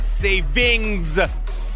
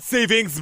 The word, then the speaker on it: saving: of like grammar police it's not savings Ryan it's saving here's the thing about grammar